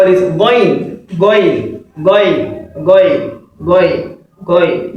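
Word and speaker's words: غين: Yeah, the correct pronunciation is what? Going. Say it after me. You can say it after me. Going. Yes, going. Not gain. People call it gain, so it's not gain. The Arabs, they can never say gain at all. And this is their letters, so they should know how to pronounce it. much more better than us. Yeah. So this is going, not gain, not gain.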